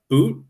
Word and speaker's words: But: Russian Winger Center named Daniel uh boot but I don't know it's it's spelled b-u-t but watch some highlights